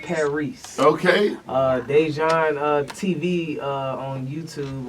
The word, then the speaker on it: Paris: It's spelled like Paris, but it's pronounced Paris.